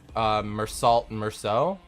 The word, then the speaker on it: Meursault: Because that's how it's pronounced in French, and that's just kind of how I learned how to say his name due to the way his source material is. His source material originates from that dialect, and so that's how you would pronounce the name.